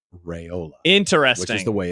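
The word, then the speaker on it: Raiola: monstera Rola if you noticed dad said rayola interesting which is the way it's pronounced I was thinking about that on the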